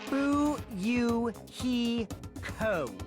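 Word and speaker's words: Fuyuhiko: last name is kuzurio my first name is pronounced who you he KO I'm still an inexperienced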